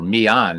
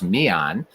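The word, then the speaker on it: Millan: Or Milan, actually. It's Felix Milan. If it was Italian, it would be Milan. So Felix Milan.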